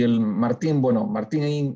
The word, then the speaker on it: Martín: Y el Martín, bueno, Martín en español, Martin en inglés, ¿no?